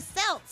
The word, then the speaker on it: Celts: No, C-E-L-T. it's a hard C.